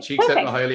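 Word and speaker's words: Csikszentmihalyi: is state cheek saying i know how to pronounce it i practiced this i wrote she said highly i learned that off for a piece nice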